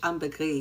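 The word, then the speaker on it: ambre gris: So amberree it's actually pronounced in English amberress but in French amberree you don't pronounce the s.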